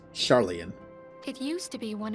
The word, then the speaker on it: Sharlayan: That is pronounced Sharlayan.